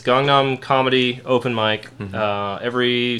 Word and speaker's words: Gangnam: like busan or busan i say gangnam like gangnam style isn't that what he says he didn't say kongnam style so i assume that is the correct pronunciation because that's a korean